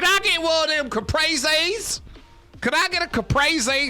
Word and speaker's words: caprese: Capre? It's called Capre? That sounds way worse. How are we going with that pronunciation? Capre. Caprese? It's called a caprese salad.